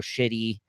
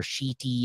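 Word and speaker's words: Schiti: So to speak, of Avengers, X-Men Eternals, Judgment Day, written by Kieran Gillen, art by Valerio Shitty, or Sheety, I think is how you pronounce it.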